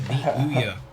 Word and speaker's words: Ouya: darling that is the Ouya. Pronounced ooh as in, ooh that's quite a tiny console, and yeah as in, yeah I agree.